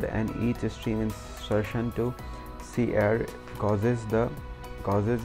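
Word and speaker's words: cerr: It is pronounced as cair since it is like c-e-r-r, c-error.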